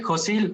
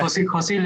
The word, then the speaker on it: Yosil: lo estoy pronunciando bien, Yosil. ¿Andas por ahí, Yosil? Hola, buenas tardes. Sí, Josil o Yosil, como prefiera. No, como tú me digas que se pronuncia. Josil está bien, gracias.